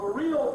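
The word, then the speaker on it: Vril: Alec McLeland, The Mysteries of Viril Power. That's the book, and the viril is spelled V-R-I-L, viril.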